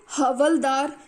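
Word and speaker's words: havaldar: इन्हें हवलदार, स्पेलिंग थोड़े अजीब हैं बुक के अंदर परंतु इसे हवलदार बोला जाएगा, हवलदार बोला जाता था, गांटीदार बोला जाता था और मंडल बोला जाता था।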